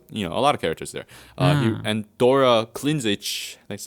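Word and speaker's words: Dora Klindžić: And Dora Klinzic, that's how they say it, also a key writer on Disco Elysium.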